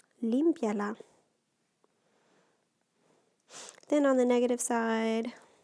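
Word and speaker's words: límpiala: Limpie, that's actually just 2 syllables, because notice that weak I and that strong E together are going to make 1 syllable. So the accent needs to go on the I.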